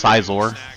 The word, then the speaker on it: Scizor: It's Scizor, as in Incisor.